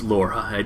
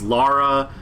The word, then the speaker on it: Lara: surfaces zebras are saying why are you calling your Laura that's how I pronounce Laura it's Lara Lara I think I think the C pronunciation is Lara look I pronounced Mario is